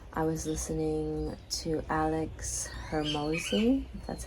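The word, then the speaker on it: Hormozi: have a purpose I was listening to Alex Hermosi that's how you pronounce his last name and he said something that really was like man archetypes.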